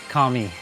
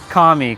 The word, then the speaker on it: Kami: Kami, see you later, Kami.